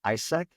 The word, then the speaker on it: AIESEC: Although I would say that when I was in college, I was part of an organization called ISAC. It's spelled AIESEC, and it stands for the International Association of Students in Business and Economics.